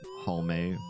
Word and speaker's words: Halme: If you haven't been here before, my name's Halme. The last E is pronounced just like the first one.